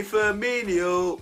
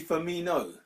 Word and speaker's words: Firmino: Does that work if his name is Bobby Firmino? No, I keep hearing Firmino. No, It grinds my gears. That's I had to add the extra syllable, innit? It grinds my gears.